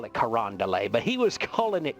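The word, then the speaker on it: Carondelet: truck it was so funny so it's not pronounced Karen Del it it's pronounced kand that's that's how that's how the Cajun like uh that's how they pronounce it they call it karand Del but he was calling it Karen delit and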